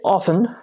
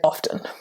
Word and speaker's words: often: Most speakers say often, but if we are clarifying, or if we are speaking formally in a situation where we need to speak clearly, like a presentation, then we will say often. So there you have it. Both pronunciations are correct, often and often, and you can choose either one.